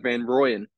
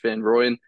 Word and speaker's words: van Rooyen: go Kim to Van ruen van ruen uh van royen it's actually pronounced van rooyen from radical air so they'll get me about